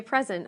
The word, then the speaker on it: present: friends gave me a present on my birthday what's the difference between the nouns and the verbs we stress the first syllable and the nouns and the second syllable in the verbs let's look at and